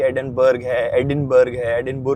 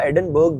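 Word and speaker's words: Edinburgh: Comment section में कि एडिनबर्ग है, ठीक है। तो देखो इसकी प्रोनाउंसिएशन, एक्चुअल प्रोनाउंसिएशन जो है ना वो एडिनबरा ही है।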